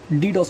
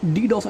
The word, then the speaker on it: DDoS: first of all this DDoS attack is a distributed denial of service attack distributed denial of service it is used with usually pronounced as the initials so it is an